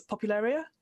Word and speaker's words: Popularia: you had, so like I'll never say it right. It's a problem. I always say it wrong at the last minute, but it's Popularia. Is that the one?